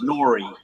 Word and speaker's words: Nori: mispronounce that pretty well they say they say it's uh like story so it's Nori Nori okay that makes sense